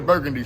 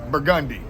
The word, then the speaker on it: Burgundy: Most people that come here, they'll say, "Take me to Burgundy Street." But we don't pronounce that burgundy. We pronounce it burgundi.